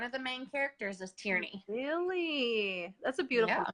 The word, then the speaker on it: Tierney: Tierney, yep.